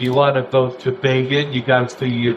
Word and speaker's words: Begin: thought it was really important that people not mispronounce Bean's name. So, in the story about Manak and Bean that they did, they had a little box that said, "Bean rhymes with Fagan."